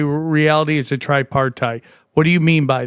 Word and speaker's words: tripartite: How do you pronounce that? Uh tripartite. Okay, so you say reality is a tripartite.